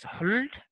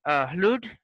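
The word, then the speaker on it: hlūd: Like, initially the word was, it was pronounced as hlud, hlud.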